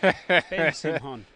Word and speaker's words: Simhon: definitely not Simon. Ben Simhon.